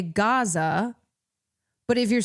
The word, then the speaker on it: Gaza: Like if you if you pronounce if if you say Gaza versus, you know, the more Arabic pronunciation of Kaza, nobody's I don't think anyone's going to be like, "Hey, you're pronouncing it incorrectly.